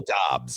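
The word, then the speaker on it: Doubs: Dobbs? Romeo Dobbs, yeah.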